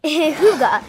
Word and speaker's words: hygge: Hygge, pronounced hygge, is spelled H-Y-G-G-E, but pronounced H-O-O-G-A.